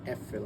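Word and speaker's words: Äpfel: মানে হচ্ছে ডি এফেল এক্ষেত্রে উচ্চারণটা ভিন্ন হবে কারণ ওলাউ থাকবে এর উপরে ডি এফেল আমরা বলব আমি আপেলগুলো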